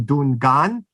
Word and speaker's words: Dungan: And it's still that term Dungan, which has an alternate pronunciation Dungan, is still used, for